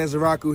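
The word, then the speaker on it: Ezeiruaku: Is Donovan Ezaraku here?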